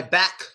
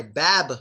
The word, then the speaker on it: back: So if you say my back hurts, it sounds like you're saying my bab hurts. So what do? We kind of do half of the K sound. And what we do is we stop the word by closing our throats.